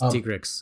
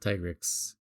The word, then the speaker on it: Tigrex: This is how I know it's Tigrex and not Tigrix.